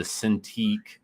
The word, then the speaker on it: Cintiq: w a c o m it's called the cintiq it's spelled c i n t i q and then it's 16.